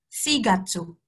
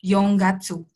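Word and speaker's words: 四月: 4 atau bulan April sigatsu sigatsu sigatsu bukan Yong Gatsu karena Yong itu kan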